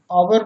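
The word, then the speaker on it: hour: एच के just बाद यदि ओ आए तो प्रायः एच साइलेंट रहता है। जैसे ऑनर मीन्स सम्मान, ऑनेस्ट मीन्स ईमानदार, आवर मीन्स घंटा।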